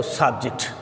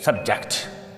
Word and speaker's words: subject: इसी तरह से SUBJECT, अगर तो नाउन है तो सब्जेक्ट। वर्ब के तौर पर इस्तेमाल कर रहे हैं तो फिर इसको हम पढ़ेंगे सब्जेक्ट। बहुत ही आसान है।